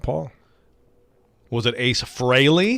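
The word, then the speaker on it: Frehley: not paul was it ace fraley he's not ace freely dude stop saying his name wrong like we have we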